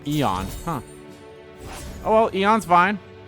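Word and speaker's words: Aeon: how they pronounce it I always pronounce it as Aon cuz you know A and E but I guess it's Eon huh oh well eon's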